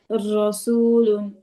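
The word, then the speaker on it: رسولٌ: প্রত্যেক আপুকেই বলতেছে জিহ্বাটা উল্টো পিঠ, জিহ্বার উল্টো পিঠটা হচ্ছে তালুর সাথে লাগিয়ে উচ্চারণ করবেন, তাহলে দেখুন মোটা ভাবটা ভালো আসবে। রসুলুন, বুঝছেন, এরকম।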